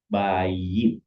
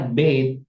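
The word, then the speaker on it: בית: aslinya di kamus tulisannya bayit artinya rumah ya, bayit. Nah, sekarang nanti kita lihat kok bacanya bait. Nah, B. Kenapa dibaca bait bukan bayit sever? Nah, karena ini adalah konstrak ya.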